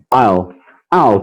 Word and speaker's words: I'll: I'll, tipo aquele ator Al Pacino.